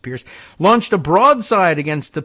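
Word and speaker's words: Peirce: In response to that minor enforcement action, Trump appointed SEC Commissioner Hester Pierce, and spelled P-E-I-R-C-E, but I think it's probably pronounced Pierce, launched a broadside against the pay-to-play rule, saying it was an exceedingly blunt instrument.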